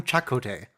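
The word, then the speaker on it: Chakotay: to use that phrase chicote and his Tattoo's so much crazier oh they changed his pronunciation chocolate they did that's what they did in season one people called him Chaco day yeah yeah for a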